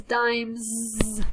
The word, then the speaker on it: dimes: It has, my throat is making sound, so it's dimes. It has a z sound at the end.